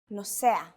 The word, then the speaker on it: נוסע: But in some cases, the stress is on the second to last syllable of the word. לקוח, נוסע, מתלבשת.